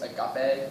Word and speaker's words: agape: And this one, I'm sure I'm pronouncing this right. It's agape.